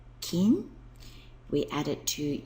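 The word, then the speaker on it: 金: is again it's cool meaning gold its pronunciation King we add it to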